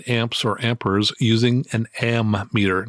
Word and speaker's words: ammeter: or amperes using an ammeter, not an amp meter. Remember, it's an ammeter, which is spelled with two M's and no P.